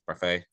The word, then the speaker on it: Barfée: So you play William Barfée, is how you pronounce it, Barfée.